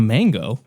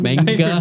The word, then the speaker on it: manga: Manga? Manga. Listen back. I think I said mango. Manga? See, you heard mango too, right? Manga. See? I was so confused, dude. Oh, man. It's pronounced manga.